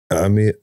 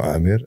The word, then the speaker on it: Amir: today I'm joined by none other than Dr Ami no Amir Amir islami how do you say welcome in